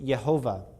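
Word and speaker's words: Jehovah: under the the yod it changes to a uh shivah when the word is elongated so it comes from it goes from yah to yehovah and so um another interesting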